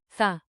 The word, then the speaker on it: θα: The future marker. Θα. Soft, th, like in, think.